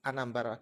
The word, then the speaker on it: Anambra: So I come to the realization that the place is called Anambra, as in Anasarambara. And to say it like the locals, it's Anambra.